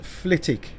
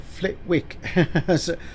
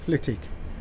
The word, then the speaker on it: Flitwick: Next station is correctly pronounced Flitwick, not Flitwick, as some people say. It's actually pronounced Flitwick.